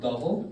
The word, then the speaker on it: Dhawal: yes my name is double d-h-a-w-a-l the W is pronounced as a v why because [ __